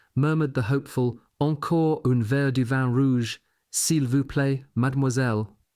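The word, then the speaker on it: mademoiselle: Troops studying an army phrase book murmured the hopeful encore unveil madmoiselle that last often being pronounced mammoiselle.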